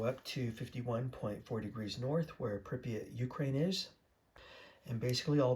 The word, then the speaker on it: Pripyat: Okay, so in the video game, uh Sergeant MacMillan, I believe his name was, there have been Pripyat Pripyat, that's how you pronounce it, Ukraine.